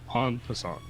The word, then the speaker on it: en passant: The first card in the pack is, am I pronouncing this right? En passant? En passant.